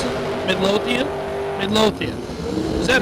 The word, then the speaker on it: Midlothian: top end Kenny promps and Terry Stewart Stewart Midian Texas Runner is that is that no not how you pronounce it Midlothian Midlothian is that not what I said oh